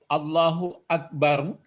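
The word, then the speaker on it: اللهُ أكبرُ: Allahu Akbaru. Kalau dikasih barisnya itu mesti dibaca baris depan hanya ini, rohnya pun baris depan. Allahu Akbaru. Allahu Akbaru. Cuma sering dibaca mati. Allahu Akbar. Allahu Akbar.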